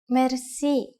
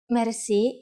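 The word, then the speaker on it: мерси: you will be amazed which word that is Mery mer Meri is a long word from French but it is pronounced with a typical Bulgarian heart are R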